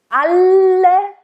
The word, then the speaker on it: alle: Alle, and again, nice double L.